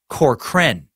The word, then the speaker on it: Corcoran: Oh, just, and then you say it's pronounced Corcoran.